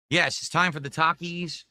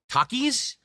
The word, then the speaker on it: Takis: Takis menu from Wendy's.